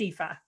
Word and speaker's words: Aoife: So I've heard multiple variations of how to say my name. So it's not the first time, but yeah, it's Aoife.